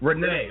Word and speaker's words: Renee: am getting it wrong it's Renee R NE Renee okay I thought it was Renee but I wasn't sure so I I was saying Rene uh but Renee Pratt joins this former